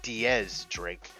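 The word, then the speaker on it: X Drake: have uh DX drink or in this case Diaz Drake as it's supposed to be pronounced but his name they it's an X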